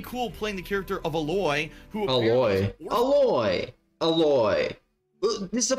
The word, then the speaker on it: Aloy: See, he didn't even say it as alloy, as the alloy, metal alloy. But no, it's Aloy instead. Who would even say it like that?